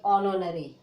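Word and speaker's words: honorary: ठीक है, यच को साइलेंट रखोगे तो कैसे पढ़ेंगे, ओ नो री। ठीक है, क्या पढ़ोगे, ओ पढ़ोगे, हो नहीं पढ़ोगे, इसको हो करके नहीं बोलोगे, ओ करके बोलोगे, ऑनोनरी।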